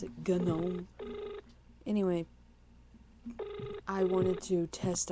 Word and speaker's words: GNOME: The fact that it's spelled like just gnome, but you pronounce it GNOME.